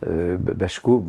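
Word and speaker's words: Baczko: Par exemple, sur la situation termidorienne, je m'étais beaucoup appuyé sur les les travaux de Bacho, enfin sans prononciation polonaise.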